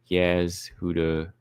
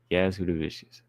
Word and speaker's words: Jasudavicius: Paul said Jasmine in an interview with the Schmo said that her last name is actually pronounced Jasudavicius. Jasudavicius.